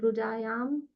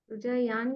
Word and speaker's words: रुजायां: रुजायान नहीं, रुजायाम ही है, रुजायान नहीं है। यांच या न नहीं आएगा, म प्रोनाउंसिएशन होगा, न प्रोनाउंसिएशन नहीं होगा।